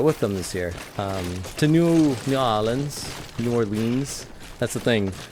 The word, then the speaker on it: New Orleans: next parade I need to go to Oh New Orleans nollans you see I had some friends that wanted wanted me to go with them this year to New Orleans New Orleans that's the thing when you go